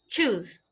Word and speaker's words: choose: choose and shoes exactly the first one is more like right this is like our chair like chicharrón janta Ludo right it is it is strong choose while the other one s H is like Shh right shoes right so be careful with that difference because you will pronouncing shoes instead of truth okay choose those chosen